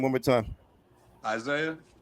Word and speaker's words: Isaiah: Isaiah. How do you spell it?